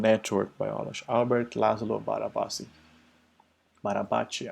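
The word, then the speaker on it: Barabási: Barabachi, I guess, is the correct way of pronouncing his name.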